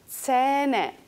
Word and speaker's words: Zähne: Zähne, dientes. Fíjense además que lleva una H, luego es una A palatalizada larga. Zähne, dientes.